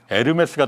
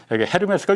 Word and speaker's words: 에르메스: 그래서 나 처음에는 에르메스 잘 몰라갖고 헤르메스가 유명한 거냐? 그랬더니 애치는 묵음이거든요. 그러더라고요. 통상 헤르메스로 발음하는 분들이 많죠. 예. 나 헤르메스인 줄 알았어. H로 시작하니까.